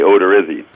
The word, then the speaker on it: Odorizzi: I'd say Odorizzi. Okay. I've heard people say Odorizzi, but I've pronounced it Odorizzi in front of his mom